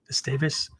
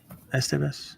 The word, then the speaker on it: Esteve: Alex, I don't know how to pronounce his last name correctly. Esteves. Do you know what it is, James? Esteves? I think it's Esteve. Esteve, there you go.